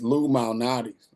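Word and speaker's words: Lou Malnati's: used to but there's a restaurant here called Lum malais I don't know if you've heard of it Lattis and pronounce it Lum illuminatis it's not Illuminati it's illuminatis it's Lou mtis it's and I eat my I have my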